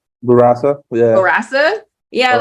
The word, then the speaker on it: Bourassa: Angela Bourassa. Bourassa.